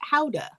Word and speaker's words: Gouda: And two, I learned relatively recently that it's actually pronounced Howda, and Americans say it wrong.